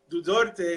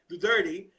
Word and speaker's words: Duterte: and we have Duterte I'm sorry for mispronouncing your name correct me the turning grits you remind me just remind me don't worry about it do dirty and he's here he's